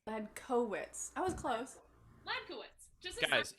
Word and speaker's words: Hladkowicz: lad co wits bed cowitz i was close lad kowitz just guys it's it's not that hard you